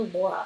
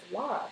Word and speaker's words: Lara: up her name was Lara spelled l a r a like in Dr shago and people are always calling her Laura and it's like no it's Lara so I I do